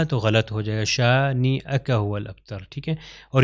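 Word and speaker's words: شانئك: اوپر حمزہ آتا ہے۔ تو اس کو کیا تلفظ ہوگا؟ شانی اکا۔ اگر میں کہوں شانی یکا تو غلط ہو جائے گا، شانی اکا هو الابتر، ٹھیک ہے۔ اور یہاں پر ایک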